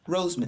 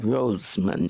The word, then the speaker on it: Rosemond: Roseman. Rosemond. Spell that.